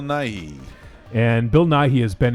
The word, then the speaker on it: Nighy: I say his name that's how you say his name Bill Nighy and Bill Nighy has